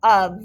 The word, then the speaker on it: of: a piece of pizza of how do you spell of sounds like a v boys and girls but did you spell it o f very good the next